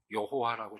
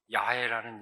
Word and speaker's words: 야훼: 히브리어에 원래 모음자가 없었기 때문에 자음만 갖고 추정을 해서 여호와라고 추정했는데 아니다. 야훼라는 이름이 확인이 된 건 아주 최근입니다. 이건 야훼라고 있는 것이 맞다.